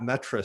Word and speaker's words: Metre: twitter it's uh it's pronounced more accurately than is spelled at metra m-e-t-r-e even you can find me